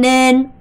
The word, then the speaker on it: nên: 여기서 발음을 좀 조심하셔야 되는 게 뭐냐면 nen을 절대 이렇게 발음하시면 안 돼요. anh nên 아니고 anh nên uống thuốc, anh nên uống thuốc, anh nên uống thuốc 이렇게 발음하셔야 되고요.